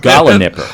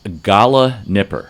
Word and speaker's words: gallinipper: Gala nipper. Gala nipper. And Okay, you want to spell it? I will spell it because it's not pronounced like it's spelled.